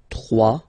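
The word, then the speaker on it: trois: Final S not pronounced. 3.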